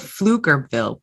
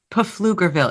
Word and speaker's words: Pflugerville: I think the P is silent.